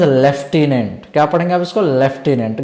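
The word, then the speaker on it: Lieutenant: that the लेफ्टिनेंट governor spelling क्या है एल आई ई यू टी ई एन ए एन टी बट इसका pronunciation आप इसको कैसे प्रोनाउंस करोगे कैसे पढ़ोगे दैट इज लेफ्टिनेंट क्या पढ़ेंगे आप इसको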